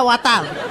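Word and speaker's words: water: ওয়াটার না, এটা ওয়াতার, ওয়াতার। জি স্যার। জিভার আগে সামনে দুই দাঁতের সাথে লাগবে, ওয়াতার, ওয়াতার।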